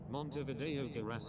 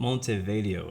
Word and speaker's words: Montevideo: but things like multi multi videos what Montevideo I believe is how you pronounce it something like that like I'm